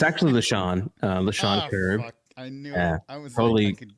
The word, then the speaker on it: Lechon: Lechon.